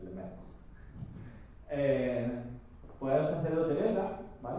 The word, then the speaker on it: Lemaître: aquí, vamos a ver, pero la pronunciación correcta me han dicho que es Lemaître.